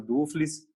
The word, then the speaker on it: Duffles: Falando um pouquinho quem que é o Eduardo, aí eu vou te corrigir aqui, te peço desculpas, o nome correto, a pronúncia correta, Eduardo Dufles, né?